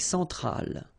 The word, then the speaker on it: centrale: L'Amérique centrale. Same thing here. Centrale, remember, E-N nasal, so it goes in your nose. En. Centrale.